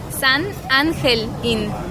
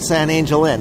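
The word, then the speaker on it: San Angel Inn: would have called it San Angel in and I would have ruined segment right from the beginning it's it's like the G the G in English you would pronounce it angel in Spanish would be ancle an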